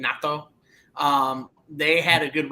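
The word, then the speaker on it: Naito: the number one is natto uh that's how you say his name natto um they had a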